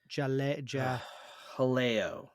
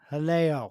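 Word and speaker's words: Jaleo: there and uh what's the restaurant I always mispronounce jalo Helo there you go it's just right on the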